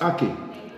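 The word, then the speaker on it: ackee: bring it from Jamaica that's Aki yeah AK a guys you be eating a here and it's spelled like this a c k e e AK yeah I want when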